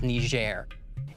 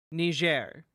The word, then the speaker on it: Niger: here in Niger Africa known as ner in this nitpick I feel like you could have just pronounced it correctly the first time ner you that would have